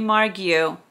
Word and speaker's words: Margu: to share with you my visit to Henry margu and yes that's how you pronounce it I will tell you about that